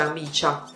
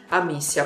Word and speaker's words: Amicia: Buongiorno, però Amicia, potresti rispondere, quindi comunque non si dice Amicia. Amicia, perfetto, l'importante è saperlo.